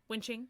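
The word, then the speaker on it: Wen Qing: It's a Q, so Wenqing? Yeah. Ching, yeah. So Wen Ning's sister.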